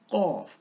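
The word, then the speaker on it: قاف: ক ক ক, কোথেকে বলুন, চেষ্টা করুন কোথেকে উচ্চারণ হলো, জি জিব্বার গোড়া তার বরাবর উপরে তালুর সাথে লাগিয়ে, কফ কফ কফ।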